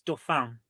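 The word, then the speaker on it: Dauphin: however you pronounce it if it's French it's Doan Doan yeah Doan well let's see it is indeed the Doan I don't know how Americans would butcher it but Doan that's how we pronounce it as well least that's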